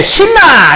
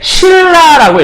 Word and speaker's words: 신라: 예를 들면 이런 거 있잖아요. 우와, 고구려 백제 신라! 이렇게 얘기하지 않거든요. 고구려 백제 신라라고 얘기하죠. 요 니은이 얘를 만나서 요렇게 리을로 변해서 신라가 되잖아요.